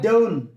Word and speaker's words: don't: এখানে আমরা টিটাকে সাইলেন্ট রাখবো, ঠিক আছে? টিটা বাদ দিয়ে পড়েন, টিটা বাদ দিয়ে প্রনাউন্স করেন, সুন্দর হবে। I don't, টি বলার দরকার নেই।